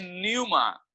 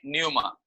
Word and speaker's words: pneuma: इब्रानी में है रूआ और उसी का यूनानी शब्द है न्यूमा, PNEUMA। पी साइलेंट है उधर, PNEUMA, न्यूमा।